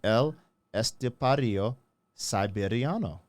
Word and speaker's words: El Estepario Siberiano: tape man I said L estario siberiano okay you got to roll your R A littleit yeah man